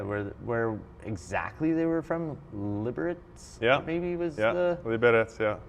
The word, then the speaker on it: Liberec: Liberec? Maybe was the Liberec. Oh, that's the proper pronunciation.